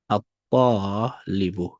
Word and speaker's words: الطالب: Now you can see that the ta has a shadda, and then the lam is neutralized or is skipped. You don't pronounce it. So you say ta, الطالب, the student.